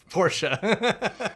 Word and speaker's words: Porsche: syllables, buddy. Porsche.